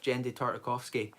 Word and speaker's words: Genndy Tartakovsky: And with Genndy Tartakovsky, that's how you pronounce it, pause, by the way, Genndy Tartakovsky,